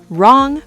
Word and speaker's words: wrong: The letter W at the beginning of certain words before R. Like right. Exactly. Right. Wrong. Wrap. Wrist. Wreck. The W is silent in all of these.